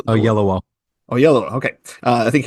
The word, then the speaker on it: Oyelowo: I can never pronounce his name right. David Oyelowo. Oyelowo.